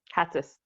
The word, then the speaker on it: Hatzis: I want to introduce, and I want to make sure I pronounce your last name correct. Hatzis. Hatzis. Okay.